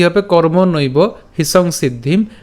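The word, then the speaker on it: কর্মণৈব: এর উচ্চারণটা কেমন হচ্ছে কর্মনৈব ঠিক আছে কর্ম নৈব এরপর হি সংসিদ্ধিম একটু খেয়াল করি আমরা এখানে কর্ম নৈব কেন উচ্চারণ করলাম কারণ এখানে ঐকার আছে আর ঐকার থাকার কারণে আমরা নইব উচ্চারণ করলাম তো কর্ম নৈব হিসং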